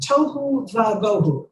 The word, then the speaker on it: tohu va'bohu: So the earth was unformed and void, tohu va'bohu, or you could say chaos, or null and void, or topsy-turvy. It's, tohu and vohu rhyme with each other.